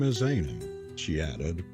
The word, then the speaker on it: Aina: "My name is Aina," she added, pronouncing it Ayna, with the Highland lilt in her voice.